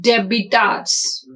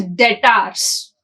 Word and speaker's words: debtors: Accounts receivables means here we can also say it as debitors. But be silent here. So we should pronounce it as debtors.